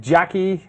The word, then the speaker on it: Jacqui: Jackie. Does she go, gotcha? It's Susan is in there. Gotcha. Diane. it's spelled differently. It's JACQUI.